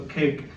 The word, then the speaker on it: cake: our silent E rule, which it has two vowels, and the first one does all the talking. It says his name, and the second one is silent, so you're not able to hear or sound out the E in the word cake. So cake, you have a